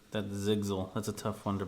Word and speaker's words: Sigzil: And with this, Kaladin starts to converse with Rock and Sigzil about why do the Parshendi fight?